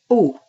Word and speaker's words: au: So we have a plus le becomes o. So répétez a plus le becomes o. The AU sounds like an O almost.